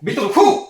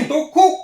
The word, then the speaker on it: Bitoku: Hop, on va commencer par cette grosse chose ici, la Bitoku. C'est comme ça qu'on prononce. Bitoku. Non. Bitoku. Pas Q. Bitoku.